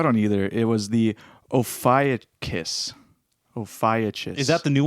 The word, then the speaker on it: Ophiuchus: It was the Ophiuchus.